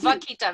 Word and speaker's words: vaquita: How do you spell that Makita? Oh, vaquita, V-A-Q-U-I-T-A.